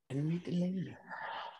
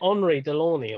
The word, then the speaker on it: Henri Delaunay: I got done by the Irish pronunciation there. I think isn't it Henri Delaunay or something? Henri Delaunay. Quite possibly. Yeah. See, I read it as Irish as opposed to like French.